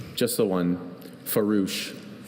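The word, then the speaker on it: farouche: Are there any alternate pronunciations? Just the one. Farouch.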